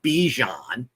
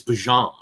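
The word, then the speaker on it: Bijan: It's not Bejon, it's Bjon.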